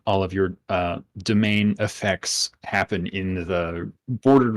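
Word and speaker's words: demesne: And the domain, which is spelled like demence, but the domain is the area around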